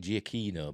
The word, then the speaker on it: Giacchino: right oscar-winning up composer Michael giacchino is that I think that's how I pronounced it I've heard people take giacino but I've always said giacchino but never mind it